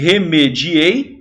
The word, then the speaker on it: remediei: vamos lá é o remediei e o remédio Hei qual é o ferro bom se pronuncia a palavra realmente sem pronuncia Senhor letra é remediei com a sílaba tônica remediei sílaba tônica em só